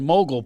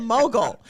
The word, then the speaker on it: mogul: don't say the word mogul properly you because of your silent l because you're from philadelphia you said you were a mogu as opposed to a mogul you're like i didn't